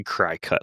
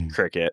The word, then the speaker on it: Cricut: I think this is Jenna's like Cricut. Is it Cricut or Cry Cut? It's Cricut, but it should be Cry Cut. Like that's how it looks, but it is Cricut.